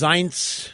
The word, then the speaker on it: Zients: So it's pronounced Zients.